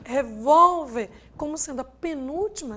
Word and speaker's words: revólver: Já quando a gente trabalha com revólver, como está aqui, e com bíceps, a sílaba tônica quem é? Não é a última, e sim a penúltima.